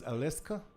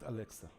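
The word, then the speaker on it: Aleksa: Mughal is saying that the name, the correct pronunciation is Aleska and not Alexa.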